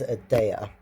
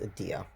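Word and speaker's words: Edea: the roller skating world is Ada um sometimes pronounced Adia.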